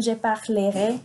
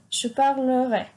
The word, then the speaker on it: je parlerai: No decimos en la pronunciación je parlerai, no. La E intermedia, la que va después de la L, no se pronuncia, es muda. Entonces va a ser je parlerai, no je parlerai.